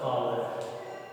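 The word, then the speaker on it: hour: 10 जैसे गीता, क्या लिखा मैंने, गीता वेलकम मतलब आ जाएगी, ठीक है, गीता आ जाएगी विद इन और आवर। अब देखो आवर उच्चारण निकालो, आवर, आवर यानी 1 घंटा, ठीक है।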